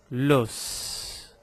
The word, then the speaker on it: l'os: A palavra osso também tem um S que é pronunciado. L'os. L'os. Então, pronuncio o S da palavra osso.